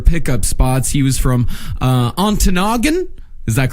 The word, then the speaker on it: Ontonagon: Yeah, I think it's pronounced Antonagon. That sounds right.